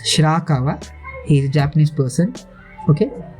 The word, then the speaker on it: Shirakawa: It's not Shirkumba, it's Shirakawa.